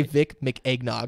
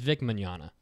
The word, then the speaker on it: Vic Mignogna: mmm manana thank you I always want to say Vic make eggnog it's vic Mignogna manana okay so who's